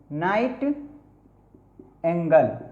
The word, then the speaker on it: nightingale: और एक है नाइटिंग, NIGHTINGALE, नाइट एंगल। इस तरह से इसका प्रोनाउंसिएशन होता है। मतलब क्या होता है इसका? बुलबुल, बुल क्या होता है? नाइट एंगल, नाइट एंगल, इस तरह से पढ़ते हैं।